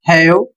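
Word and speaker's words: have: इसे पढ़ा जाएगा हैव और इसका अर्थ होगा रखना।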